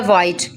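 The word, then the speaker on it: white: Next है वाइट, वाइट में भी हम क्या करेंगे, डब्ल्यू की वजह से एच को साइलेंट कर देंगे।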